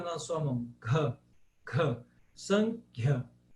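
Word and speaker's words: Sāṅkhya: Agora, quando ele tem um H, você tem que pronunciar esse H. como por exemplo em Sankhya.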